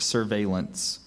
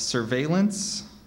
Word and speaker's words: surveillance: were kept under strict surveillance are there any alternate pronunciations uh I have surveillance and surveillance surveillance s u r